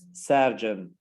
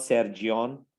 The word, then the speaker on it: surgeon: here for example cardiologist surgeon not sergion that's a surgeon surgeon so when you listen